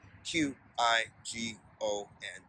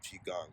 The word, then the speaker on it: Qigong: That's spelled Qigong.